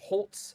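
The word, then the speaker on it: Holz: Nick Holes, I think it's pronounced Holtz if I'm not mistaken. No T, but it is Holtz.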